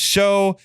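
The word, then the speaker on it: Shough: means they're going with Tyler Shug, pronounced show, and Spencer Rattler.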